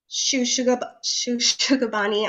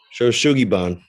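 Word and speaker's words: shou sugi ban: It's going to be the Shugabani. I'm sorry, I always mispronounce it. Where is it? Shoshugiban. Thank you.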